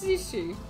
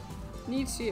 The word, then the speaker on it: Nietzsche: It's Nietzsche. Nietzsche, it rhymes with lychee.